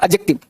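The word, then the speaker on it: adjective: एडजेक्टिव का जो sound होता है वो होता है एडजेक्टिव। एड डी नहीं पढ़ते हैं, डी नहीं पढ़ते, क्या पढ़ोगे? एडजेक्टिव।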